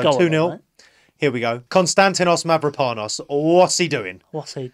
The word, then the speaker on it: Mavropanos: His name's Konstantinos Mavropanos, Seanus. With a rolled R.